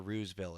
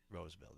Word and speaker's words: Roseville: Is it Roseville or Rooseville? Is it spelt with 1 O or 2? It's 1 O. Okay, so it is Roseville then.